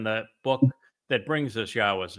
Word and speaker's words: Yahowah: This is the proper pronunciation of the name of, oh, there it is, Elohah, Yahowah. with the O coming from the Wah, as directed by his